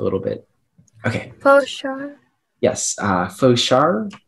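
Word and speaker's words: fauchard: bit okay yes uh foshar that's the only pronunciation it is a noun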